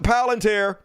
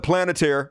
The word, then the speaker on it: Palantir: Speaking of which, the Department of Homeland Security signed a $1 billion deal with Palantir. Some dumbasses call it Planeteer. I hate you guys. Palantir, which is clearly how it's pronounced.